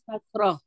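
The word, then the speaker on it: كسرة: atau disebut juga di sini Kasroh. kasroh, jangan kasrah ya Bu ya. Memang tulisan Mhm. Latin mah kasrah orangnya. Kasroh aja Mhm. lah, pakai O aja kita mah.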